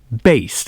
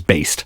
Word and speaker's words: Baest: by century media records and yes it is pronounced based i know a lot of people have had